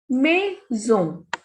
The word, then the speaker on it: maison: Next is maison. MAI is May. SON is son. Maison.